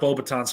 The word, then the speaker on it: Beauxbatons: always thought it's pronounced Bobatons, because it is Beauxbatons. Oh my god, come on. It is. Damn it. Bobatons. Damn it. That is correct. And Oh boy. Oh, you're back. Yes. So you got Bobatons correct.